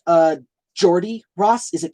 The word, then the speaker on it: Geordie: accent I think that I think that's how it's pronounced Jordy right g-e-o-r-d-i-e Jordy is that right um but I hope